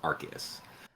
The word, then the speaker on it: Arceus: for branding purposes and not making it sound like arse nintendo and i'm sorry pokemon company just changed the official pronunciation to arceus there's a little backstory